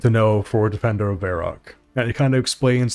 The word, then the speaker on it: Varrock: It's pronounced Varrock.